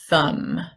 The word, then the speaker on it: thumb: Which letter is silent in MB? The B. We have climb, limb, and thumb.